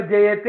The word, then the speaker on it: ജയതി: അപ്പൊ ജയതേ എന്നാണ് വരുന്നത്. അപ്പൊ ഇത് ആത്മനേപതി ആയിരിക്കുന്നതാണ് സാമാന്യ ബുദ്ധി നമ്മളോട് പറയുന്നത്. പക്ഷെ തെറ്റാണത്. ഈ ജയധാതു ഇത് പരസ്മൈപതി ധാതുവാണ്. ജയതി എന്നുള്ളതാണ് ശരിയായിട്ടുള്ള ഉച്ചാരണവും രൂപം. ക്രിയാപദം ജയതി എന്നുള്ളതാണ്.